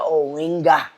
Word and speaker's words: Oenga: Oenga, here with us. Are you excited? Very excited, and that's how to pronounce my name.